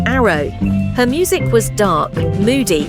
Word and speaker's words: ARO: Aimee Osbourne reinvented herself as ARO, pronounced Arrow.